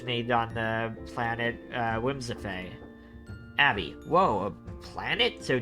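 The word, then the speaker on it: Whimsiphae: oh whimsify okay z whimsify that's how it's pronounced but it's spelled w-h-i-m-s-i-p-h-a-e abby whimsify well oh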